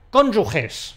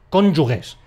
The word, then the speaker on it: cónyuges: del matrimonio son , . Son cónyuges. Mucha gente se equivoca y dice . Esto seguramente ocurre por influencia de “yugo”, pero lo correcto es .